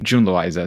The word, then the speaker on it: June Loiza: Yeah, June Loiza is the English J. Exactly, June Loiza.